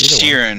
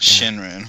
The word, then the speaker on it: Shirin: It's Shirin, not Shinrin.